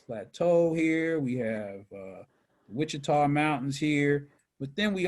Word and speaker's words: Wichita: then the uh and that's how that is pronounced is wichita so let's get out of this escape out